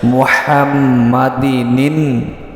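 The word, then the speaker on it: مُحَمَّدٍ: আল্লাহুম্মা সাল্লি আলা মুহাম্মাদি মুহাম্মাদ বললে কিন্তু হবে না মুহাম্মাদিনিন বলেন মুহাম্মাদিনিন নাবিল উম্মি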